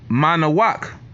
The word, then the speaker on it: Manoah: right his name was Manoah but the way you would say his name in Hebrew is mana walk manner walk which means